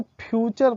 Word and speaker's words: future: और वो देखिए कैसे, जैसे FUTURE, अब इसको फुटूरे नहीं पढ़ेंगे हम, फुटूरे, इसको फ्यूचर पढ़ते हैं।